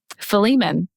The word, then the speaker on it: Philemon: book of the Bible is flemen it's literally like two pages go read it it's good okay that's not our book of the Bible yes it is what is it called Philemon it's spelled uh p-h-i-l-e-m-o-n I believe why in the